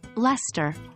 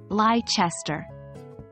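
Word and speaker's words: Leicester: more examples Lester a city in England is pronounced Lester not leichester hyperbole an exaggeration in speech is pronounced hyperbole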